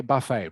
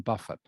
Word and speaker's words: buffet: i don't know okay in in english they pronounce it um the french way all right which is um buffet oh okay okay buffet rather than buffett all right better to say buffet buffet that that's much more